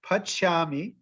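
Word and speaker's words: pacāmy: think i just like i just skipped a syllable so pachami on them everybody got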